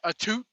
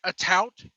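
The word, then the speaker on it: Atout: girlfriend, Alicia Tout, which, for all you British people out there who keep pronouncing it a toot, it's a tout. Get it right, please.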